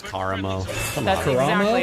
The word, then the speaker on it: Karamo: It's Karamo. Come That's on. exactly. It's Karamo. Whatever. Absolutely, it is Karamo. Well, Anna, who do you think is the hottest? Kamara.